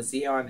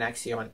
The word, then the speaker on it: Xeon: pronounce this CPU as I've heard it called a Zeon an Aion in an ion either way it's spelled x e o n so make what you